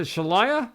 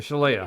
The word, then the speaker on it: Shaleia: Jeff and Shalia shal is it shalaya or Shala it's Shala Shala how they pronounce it yeah Shala changed